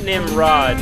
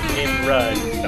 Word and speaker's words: Nimrud: Not Nimrod, mind you. Nimrud.